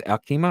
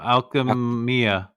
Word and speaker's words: Alchemia: Alchema, right? Alchema? No, Alchemia.